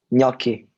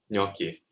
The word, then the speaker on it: gnocchi: Gnocchi. Gnocchi. Yeah. The GN is like a ñ sound, like in Spanish with the squiggly line over it.